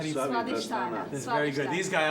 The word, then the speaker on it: Svadhisthana: Svadhisthana.